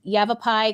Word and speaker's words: Yavapai: And uh she is also an e economic developer at Yav Yavapai College.